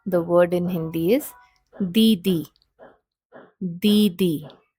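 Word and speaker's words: दीदी: word in Hindi is didi. Didi. The D sound here is a dental sound. So the tip of the tongue is right behind the teeth while pronouncing this particular letter.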